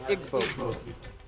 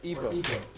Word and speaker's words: Igbo: big happening in Nigeria you have the Igbo or evil pronounce it either way it's 40 million